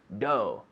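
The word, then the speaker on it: dough: need do do do d-o-u-g-h all those letters forget it do right sometimes when we're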